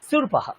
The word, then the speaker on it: शूर्पौ: Number 8, সুরপাহা মানে কুলো। সুরপাহা, সুরপাহা দীর্ঘ আছে, দেখুন আমি উচ্চারণ করছি সুরপাহা, নট সুরপাহা, ইট ইজ সুরপাহা।